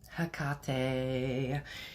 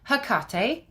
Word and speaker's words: Hecate: So, basically you come across 4 pronunciations for her name. So as I say it, Hecate, that just kind of rolls off my tongue better. All right. There's also Hecate or Hecate or Hecate. Okay.